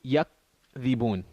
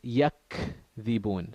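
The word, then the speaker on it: يكذبون: So one way to say it, okay, if hums didn't apply, would be yakdhibun. Yakdhibun, meaning no air comes out. You say yakdhibun. But that wouldn't be correctly pronounced. The correct pronunciation of the ka is yakdhibun. So you have to pronounce it and hold it so that some air comes out.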